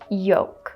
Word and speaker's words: yolk: Let's continue our saga with the silent letter L and look at this word. Yolk.